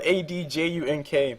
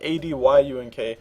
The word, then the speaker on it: Adjunk: Just in case you guys were wondering, it's spelled ADJUNK, but I put up ADYUNK, so people can pronounce it right.